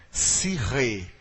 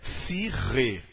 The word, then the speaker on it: psique: não é cardia e em grego a alma é se rei que alguns em português erroneamente pronunciam-se que disse que já ouviu falar de psique dessa pronúncia errada a pronúncia correta é se ri nós inclusive no brasil